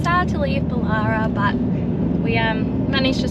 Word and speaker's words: Bullara: but that does mean we have to leave bolara and we're so sad honestly and a bit of confirmation it is pronounced bolara not bullara we've heard so many different pronunciations of like